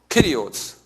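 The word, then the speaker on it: κύριος: 헬라말르는 더 로드를 뭐냐면 끼리오스 그래요. 키리오스.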